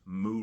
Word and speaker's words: mu: I know that's not really an intuitive symbol. It's actually pronounced moo receptors.